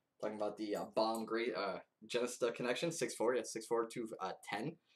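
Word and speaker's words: Jenista: Genesta. Genesta is how you say it.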